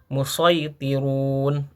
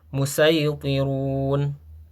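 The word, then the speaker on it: الْمُصَيْطِرُونَ: Ya, kategori yang kedua ini kita boleh membaca huruf shad ini dengan huruf shad ataupun huruf sin. Nah, itu menjadi pilihan ya. Jadi, contohnya misalkan di dalam atur ayat 37, amhumul musitirun ataupun kita boleh membacanya dengan huruf sin. am humul musaitirun ya. Nah, itu keduanya boleh.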